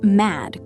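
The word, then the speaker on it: madd: To pronounce the word mad correctly, use a sharp ah sound, like in the word cat, and make sure to end with a strong, clean D.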